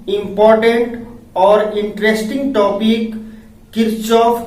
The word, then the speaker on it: Kirchhoff: कहीं कहीं किरचॉफ का नाम किरखोफ या कहीं किर्कहॉफ मिलता है। नाम में यह डिफरेंस अंग्रेजी नाम के चलते होता है। हम इस लेक्चर में किरचॉफ नाम ही प्रोनाउंसिएट करेंगे।